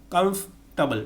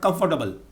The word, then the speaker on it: comfortable: not pronounce its pronunciation that's not known in pronunciation almond a-l-m-o-n-d almond not almond almond comfortable comfortable not comfortable grand prix ground free social not social social